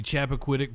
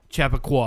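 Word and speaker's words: Chappaqua: shot outside of the Chapquitic Performing Arts Center. Chap Chap Chapaqua. Chapaqua. I kept pronouncing it wrong yesterday.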